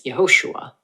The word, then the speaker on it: Yehoshua: When this vowel appears at the beginning of words, it makes a short E sound, as in men, hence Yehoshua. The Greek Septuagint confirms this pronunciation.